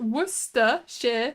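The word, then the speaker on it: Worcestershire: in the server why it's not hard it's just wora Shear sauce funny enough my mom calls it Worcester sauce because it's actually sometimes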